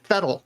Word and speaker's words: Vettel: mind also was vettel if you're talking german you say fetal not vettel since they're talking english